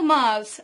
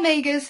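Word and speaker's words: Magrs: Paul Maas. I said it Paul Magers for a long time.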